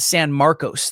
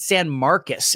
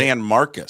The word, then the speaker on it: San Marcos: I pronounced it San Marcos the first time I saw it. San Marcos State. San Marcus is how they pronounce it. San Marcus.